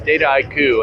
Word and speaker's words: Dataiku: Everybody asks us, how do you pronounce the name? And it's Dataiku, and it stands for data, the art and science of data. So think of it, an haiku is a Japanese poem.